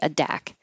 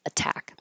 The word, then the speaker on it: attack: in the stress syllable so I could never say aack I can only say attack that's it the word